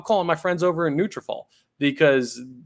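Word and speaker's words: Nutrafol: any trouble I'm calling my friends over in neutralfall because it's going to help you reach your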